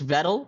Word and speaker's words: Vettal: To entertain a Presidential Narrow by Double, it's Vettal Rhymes with Petal and Metal.